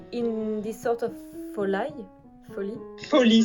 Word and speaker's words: folie: Folie, ça se prononce folie.